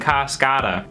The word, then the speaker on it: Cascada: Thanks, brother, but I'm cool listening to my Irish punk rock, reggae music, and Cascada. I was kind of an eclectic kid. Also, I know it's pronounced Cascada.